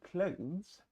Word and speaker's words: clothes: К, л, о, з. К, l, o, z. Clothes, right? Не clothes, Не clothes. Пожалуйста.